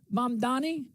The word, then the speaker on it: Mamdani: Mayor Zoran Mamdani, future leader of the CCP.